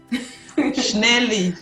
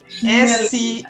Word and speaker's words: Schnelli: I don't want to pronounce her second name. Schnelli. Schnelli is SCHNELLI.